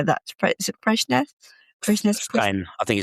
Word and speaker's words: Fresnes: Fresnes Prison? I think it's Fresnes. Yep. Fresnes. Yeah. See, I'm pronouncing that like a Norwegian rather than a